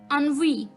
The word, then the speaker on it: ennui: सा वर्ड है दोस्तों, यानी कि जो इसके वर्ड स्पेलिंग्स है और इसकी प्रोनाउंसिएशन है वो थोड़ी सी अलग है, तो ध्यान से सुनिएगा। 16वां वर्ड है ये अनवी, अनवी, अनवी, ENNUI, अनवी, ENNUI, अनवी।